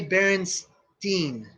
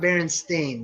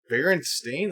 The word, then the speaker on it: Berenstain: all ears and it's definitely berenstein okay not baron stain that's ridiculous that's crazy oh god he's so sure of that it was just our all our parents didn't care enough about the proper pronunciation that they all just went most familiar they went like berenstain that sounds weird like they were like